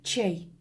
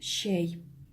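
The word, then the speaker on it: чәй: внимание на звук еще хоть и пишется буква ч татарских славов произносится как мягкий вариант буквы щ например в слове щей мы не говорим чей мы говорим щей в заимствованных из русского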